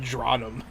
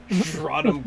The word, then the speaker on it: Draenum: We'll say his first name is pronounced Dronum. Dronum Course Chaser.